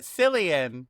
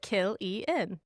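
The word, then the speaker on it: Cillian: Psyllian.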